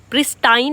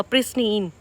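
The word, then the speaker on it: pristine: इसको हम कैसे प्रोनाउंस करेंगे? प्रिस्टीन। प्रिस्टाइन नहीं बोलेंगे। गलत हो जाएगा। प्रिस्टीन।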